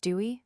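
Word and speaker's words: Douay: In the 1609 or Dwyer pronounced Dewey version of the Bible,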